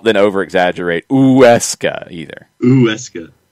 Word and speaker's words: Huesca: Huesca. You do it fast and plow through it, and you're good. Just don't add a W.